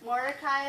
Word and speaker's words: Mordecai: reading scripture might be helpful knowing how to pronounce these. So we have Esther, and then she's the main character. Mordecai is her uncle, who some people say he